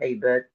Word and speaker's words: Abed: email but but LinkedIn my name is Abed uh and the the last name is is spelled AB b e so yeah they can